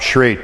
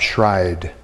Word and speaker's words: Schreit: And here I mentioned, I called him Bob Schreit, but he actually is pronounced Bob Schride, one of the early peach growers.